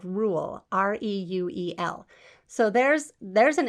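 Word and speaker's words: Reuel: him in exodus 218 where he is called rule r-e-u-e-l so there's there's an interesting thing is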